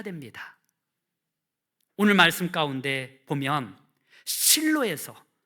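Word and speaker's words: שילה: 이 실로라는 것은요, 히브리어로 슐로인데요, 이 실로를 그냥 한글 그 발음으로 기록한 것이 실로입니다. 이 실로가 살롬의 근원이 됩니다.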